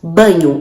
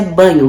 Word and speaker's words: Bagno: um cara chamado Marcos Banho a pronúncia desse jeito mesmo tá gente escreve bagno mas a pronúncia banho Marcos Banho em que ele